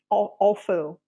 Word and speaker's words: offal: It was a soup, a canned soup that was made from oxen offal. I don't know if I'm pronouncing this Oh, correctly. O awful? F Yeah. F Yeah. A L. OFFAL. Yes, awful.